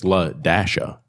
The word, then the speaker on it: Ladasha: The parents named their daughter Ladasha. The teacher pronounces the name like trying to figure it out. La. And so she's like, no, it's Ladasha.